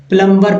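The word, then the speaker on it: plumber: कोई M letter है एम के तुरंत बाद अगर बी आए तो बी जो है साइलेंट हो जाता है जैसे देखिए मैं बहुत समय पहले काफी सालों पहले प्लंबर पढ़ता था ठीक है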